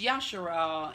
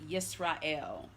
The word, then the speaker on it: Yashar'al: It's Yashar'al, incorrectly rendered Yisrael. That'll be another teaching for another day. But when I say Yashar'al, know that I'm referring to the nation of Yisrael, or Israel, as some pronounce it.